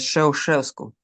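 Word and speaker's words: Ceaușescu: No, pero conozco bien su historia y sé bien cómo se pronunce. Es Shesevku su apellido.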